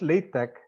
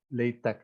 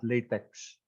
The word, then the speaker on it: LaTeX: okay it's pronounced as late Tech because the action is not actually it's not actually English X it's the Greek letter Kai pH uh CH I